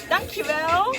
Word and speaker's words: dankjewel: Dankjewel.